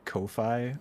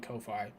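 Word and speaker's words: Ko-fi: Kofi I don't know I thought it was literally supposed to be pronounced coffee because it's like there's a hike buy me a coffee yeah maybe maybe that's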